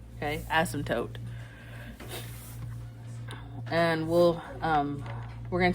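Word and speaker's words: asymptote: It's pronounced without uh silent P. Asmtote. Okay, asmmptote.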